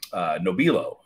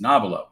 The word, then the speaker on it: Nobilo: Sauvignon Blancs was it's the name is spelled Nobilo, and I pronounced it Nobilo, and realized that I was corrected at a show where a golfing customer was like, no, it's Nobilo, as in this guy.